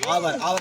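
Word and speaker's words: hour: इस तरह से आ गया क्या, इतना घंटे, आवर लिखेंगे।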